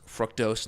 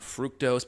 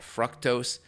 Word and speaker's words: fructose: And by the way, it is pronounced fructose, not fructose, but fructose.